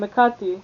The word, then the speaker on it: Hecate: has channeled messages from Hecate. I don't even know why I'm pronouncing her name in English like I'm a fucking Greek, like Hecate. That's her name, Hecate.